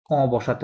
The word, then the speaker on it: bus: taxi, voiture, ভুয়াতো, correct, bus, বুস, bus, নট বাস, বুস, bus, train, ট্রান, কি হবে